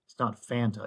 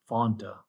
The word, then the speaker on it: Fanta: You got Pepsi, we got root beer, A&W root beer, Fanta, which is pronounced right. It's not Fanta, it's Fanta.